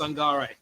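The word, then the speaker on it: Sangaré: No, it's it's always um pronounced a at the end just like you've got Ibrahim Sangare the Nottingham Forest uh you know midfielder.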